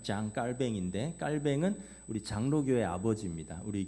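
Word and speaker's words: Jean Calvin: 아 뭐 존 칼빈이라고도 하고 원래 이분이 이제 발음은 정확한 발음은 장 깔뱅인데 깔뱅은 우리 장로교회 아버지입니다.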